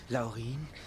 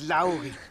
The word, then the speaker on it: Laurin: Zwerge zum tausendsten Mal es heißt nicht Laurin es heißt Laurin mit Betonung auf dem a genau ich schaff das